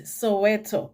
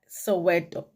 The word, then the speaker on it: Soweto: Actually, that word, you can't pronounce that word Soweto. That is not Soweto. Soweto would be THO at the end, okay? So if you are Zulu and reading that word, it's Soweto.